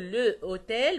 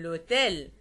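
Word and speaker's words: l'hôtel: نطق واحد لامي لامي بدل ما اقول لو اوتيل بقول لوتيل لوتيل ليه لان هنا في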